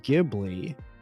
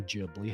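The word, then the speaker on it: Ghibli: 1980s just prior to Studio gibli or JBL however you wish to pronounce it uh Miyazaki was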